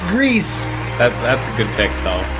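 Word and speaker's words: Gris: for impact goes to no not geese greece thank you for confirming that it's pronounced grease that's a good pick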